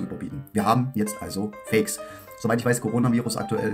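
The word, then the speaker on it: PHEIC: jetzt haltet euch fest das ganze wird phonetisch folgendermaßen ausgesprochen Fake wer das nicht glauben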